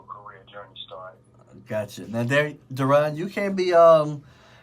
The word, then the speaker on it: Daron: It's pronounced Daron. I just wanted to let you know that.